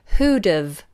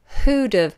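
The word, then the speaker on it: who'd've: of here's another one it contracts three words who dove who dove who would have who would have who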